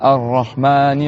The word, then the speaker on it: Ar-Rahman: Donc on était à Ar-Rahmani Ar-Rahim. Donc là, Ar-Rahman, il y a deux ra. On prolonge le A.